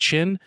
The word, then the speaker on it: Qin: I think I'm saying that right. That's QYN. I think it's pronounced Qin.